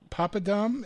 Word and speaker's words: papadum: Peppery papadum, is that how you pronounce that? Yes, perfect, yes.